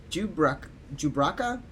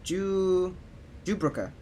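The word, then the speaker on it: Jubrunnah: If I may correct our mutual friend, I am Jubraka? No, Jubruka. There we go. Chairman of the concern. I'm not pronouncing everything that I can.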